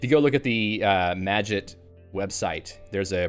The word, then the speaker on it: Magit: go look at the magit website there's a pronunciation guide for it which sounds like you're supposed to be like magit magic but get instead all right so let's